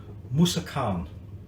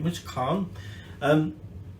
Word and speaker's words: Musakhan: It's officially called, I think I'm pronouncing this right, Musakhan. Okay, Musakhan.